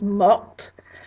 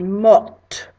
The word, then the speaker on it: morte: If it's a girl, we're adding that extra E to make it feminine, which allows you to pronounce the T, so it becomes morte. So George Washington est mort, and Marie Antoinette est morte.